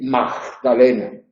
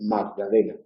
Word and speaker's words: Magdalena: Pues ahí debemos evitar decir dogma, decir Magdalena. No es una J. lo que tenemos que pronunciar cuando la G está ahí. Hay que decir Magdalena. Otra posibilidad es eliminarla, que